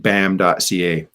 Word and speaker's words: BAAM.ca: So there's T-shirts for folks who want stuff, but they can check that out at bam.ca, BAAM.ca. There you go. Woo! And I'll drop that. I think you're mispronouncing it.